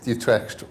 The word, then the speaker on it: Utrecht: That was mostly because Utre rhymes with Vivct.